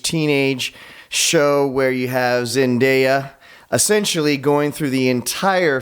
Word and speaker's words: Zendaya: And so they've trained their eyes on the HBO Max Euphoria show, that great coming-of-age teenage show where you have Zendaya essentially going through the entire show, being high,